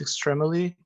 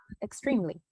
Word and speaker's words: extremely: For this one, you pronounce it like extremely. Okay, extremely. Correct. The E is silent, so you don't pronounce it, but you always write it.